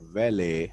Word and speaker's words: valet: uh park your car underground so this word vale has it is pronounced vale as well as well it it